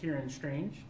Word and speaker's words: Ciáran Strange: am here at Colorado Anime Fest with Ciáran Strange. Hi. Did I pronounce that correctly?